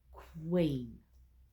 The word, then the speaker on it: queen: Because if we use the sound que, this becomes the que-een, and that's not how we pronounce it. So, it's qu queen.